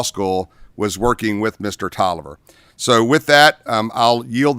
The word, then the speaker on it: Taliaferro: My name's Tolliver. It's spelled Taliaferro.